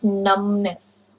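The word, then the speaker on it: numbness: I have got नमनेस, B silent, I have got नमनेस।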